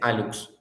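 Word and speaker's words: hallux: El alux se le llama al primer dedo, al dedo gordo del pie, se le llama alux y se escribe con hlux, pero se dice alux.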